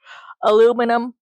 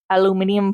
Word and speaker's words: aluminium: It's they buy so much duct tape and so much aluminum foil. Aluminium foil. I'll let you decide which pronunciation you like better.